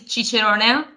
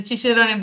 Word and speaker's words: Cicerone: It's the Cicerone board. We choose an Italian name because, we are from Italy.